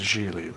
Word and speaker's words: Gigli: Pronounced Gigli, like, rhymes with really.